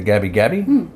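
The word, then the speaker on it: Gubbi Gubbi: people uh were definitely The Gabby Gabby uh which is spelled gubi gubi gby Gabby Gabby yeah yeah sorry y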